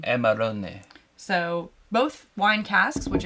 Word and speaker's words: Amarone: Because I thought it was Amarone, and then I literally Googled the pronunciation, and it's Amarone. Amarone.